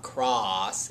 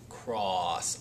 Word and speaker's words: cross: see consonant vowel consonant, you want to say ah, but it's not cross, it's cross, aw.